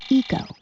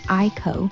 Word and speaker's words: ICO: Okay, first off, it's ICO, and it's pronounced eco, like the tree, not ICO, like you're ordering tacos.